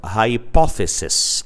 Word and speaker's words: hypothesis: Instead of being sis, we make it ses, and the pronunciation becomes sees instead of sis.